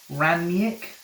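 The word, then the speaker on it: Rangnick: just one game the post ollie and pre ramnyak and that's how you say it and then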